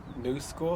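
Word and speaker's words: Knu Skool: The first item I did get for Christmas was this pair of Vans in the style New School. I think that's how it's pronounced KNU.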